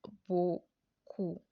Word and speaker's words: beaucoup: So we have our B plus this sound O gives us bo, and then our ku, we have our C plus OU, which is the U sound that we've learned previously. So when we pronounce everything together, it gives us beaucoup.